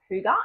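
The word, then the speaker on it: hygge: across by accident a few years ago called Huga and it's spelled h y g g e and I must give you a bit of a warning here because my friends and I call it Huggy because we had trouble pronouncing Huga but also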